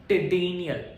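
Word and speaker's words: ctenidial: Tedenial respiration. So this is what tedenial respiration. C is what we say C is non uh like it is silent.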